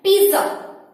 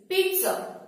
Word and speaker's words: pizza: वो इसे कहते हैं पिज्जा। इट्स नॉट पिज्जा, it's wrong pronunciation. Never say पिज्जा, पिज्जा is wrong word. Its right pronunciation is pizza. हल्का सा टी का साउंड बीच में आएगा, लेकिन जब आप इसे